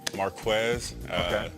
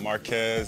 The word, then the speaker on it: Marquez: home once a fraud there's no K in my name Marquess mark not Marquez and it's that simple okay it's just that